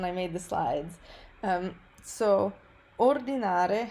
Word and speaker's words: ordinare: So ordinare has the stress on the first syllable, which I add here